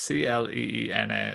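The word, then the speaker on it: Clíodhna: yeah, the best way you're going to spell it if you're from, say, the States or Australia is Cleena, is like the anglicized way to say it, I suppose.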